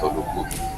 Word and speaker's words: Oluku: O L U K but they add another U so we pronounce it as Oluku.